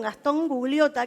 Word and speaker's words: Gastón Gugliotta: En este caso estoy con Gastón Gugliotta, que es gerente general de Streamby. Así es. ¿Lo pronuncia bien?